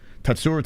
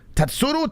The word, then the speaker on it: Tatsuro: Tatsuro, not Tatsuro. Tatsuro Taira. It's not Ru, it's Ro.